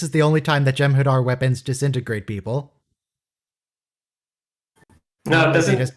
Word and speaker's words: Jem'Hadar: What a failure, this Jem'Hadar. Oh, that Vorta just... He pronounced his H. Good for you, Vorta. You what?